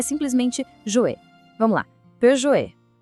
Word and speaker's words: Peugeot: E olha só como aqui fica bem claro. Do lado esquerdo tá o erro mais comum que a pronunciar o T no final. E do lado direito, o jeito certo, onde o T some e deixa o final bem suave.